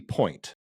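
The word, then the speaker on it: Pointe: And it's called Healthy Point, but point spelt with an E, so like you're on point for ballet.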